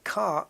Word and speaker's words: Ka: Egyptian pharaoh name car k k is the initials but it's not pronounced K it's a Ford car